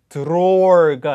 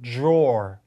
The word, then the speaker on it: drawer: 촤 사운드가 아니라 j 사운드가 되는 거예요. 그래서 drawer가 아니고 drawer 이런 사운드 나오죠.